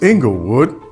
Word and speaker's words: Inglewood: the fabulous city of inglewood um well i'm supposed to say it like this inglewood that's where we moved